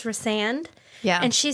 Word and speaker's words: Rhysand: And that narrator pronounced in the first book Rhysand's name Rhysand. Oh, I know. The whole time. I know. And so I corrected her and said it's Rhysand.